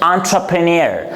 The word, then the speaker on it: entrepreneur: It's four syllable word, and it is commonly mispronounced. So how do you pronounce this word? Number one, entrepreneur, entrepreneur, entrepreneur, entrepreneur.